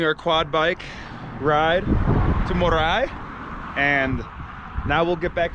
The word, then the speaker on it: Moray: and this is for you it is actually pronounced morai morai uh the site of the incas the experimental